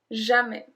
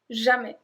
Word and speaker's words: jamais: Jamais. Jamais. We don't pronounce the S at the end. Jamais.